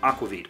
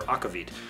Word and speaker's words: aquavit: ramen it actually has aquavit or akavid depending on your pronunciation this cocktail really not